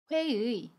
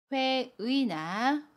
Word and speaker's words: 회의: 회의 단어를 보면 회의나 회이로 발음해요. 의가 단어의 두 번째 자리에 있어요. 그래서 의나 이로 발음해요. 회의, 회의.